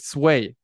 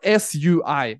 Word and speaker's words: Sui: And I'm not even sure how to pronounce it because I've heard some people pronounce it Sway. But S-U-I, it's called anyway, Sui or Sway.